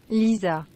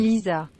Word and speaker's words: Lisa: Lisa. Oh, and that's how you pronounce it too. There's no G sound. Lisa. Yeah. Lisa. It's just Lisa.